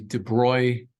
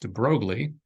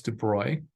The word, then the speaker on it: de Broglie: that I'm giving it but this is the de bruy matter wave and yes I am pronouncing it correctly I have conversations with uh you know other faculty and students who argue it's pronounced de broglie but no it's dubroy and the debris matter